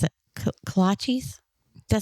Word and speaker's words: kolaches: But we're also, I forgot how to pronounce it. Kolaches? Did I say it right? Kolaches.